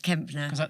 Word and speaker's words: Kempner: So this is Sooz Kempner. Kempner. I wasn't sure if it was a silent P. No, Kempner.